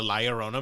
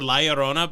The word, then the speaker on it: La Llorona: to do exactly what they did for the La Llorona movie, where they actually brought in a narrator to say the title of the movie?